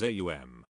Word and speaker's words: aum: A is a guttural sound. As you pronounce it, you will note it starts in the throat. to pronounce U. The lips must be thrust forward. M you will note is formed by pressing the lips together causing a resonant tone like the humming of a B.